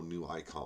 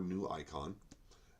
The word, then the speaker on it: Neuicon: All you got to look for is Corrogatio, and you will find, and then, you know, New Icon, or New Icon, and it is spelled Neuicon.